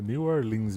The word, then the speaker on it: New Orleans: E a pronúncia é New Orleans mesmo, não é New Orleans não, hein?